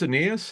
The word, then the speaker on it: Ainias: picks I keep saying anas Williams is it pronounced anas how yeah okay anus Smith anas Smith receiver